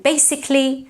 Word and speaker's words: basically: So basic and basically should be pronounced with an S and not basic and basically, that's wrong.